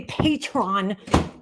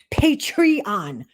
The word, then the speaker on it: Patreon: that's not the word just like you say Patron and it's patreon okay you're always like skipping